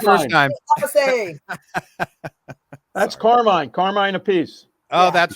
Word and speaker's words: Appice: Apache all this stuff so carine ask Rod how do you uh pronounce it and he says a piece so he became Kine a piece and I don't want to say piece sounds like a piece of pizza so and then we